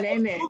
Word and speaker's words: Kunene: Kunene, say it right. Yeah, Kunene.